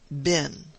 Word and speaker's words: been: upon lay in the pronunciation of the word bin which the english invariably make to rhyme with green and we northerners at least in accordance i think with a custom of shakespeare's time universally pronounce ben all the matters that